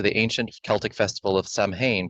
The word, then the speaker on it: Samhain: Halloween's origins date back to the ancient Celtic festival of Samhain, pronounced, oh, actually, Samhain.